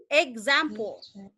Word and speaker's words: example: Example. Jadi example itu di stressnya di zam. Jadi bacanya adalah example.